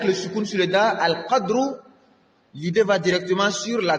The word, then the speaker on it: al-Qadr: Ce que j'ai dit, que Al-Qadr avec Soukoun, l'idée va directement sur la grandeur, mais le mot signifie également le destin. C'est la prononciation Al-Qadr qui signifie directement le destin.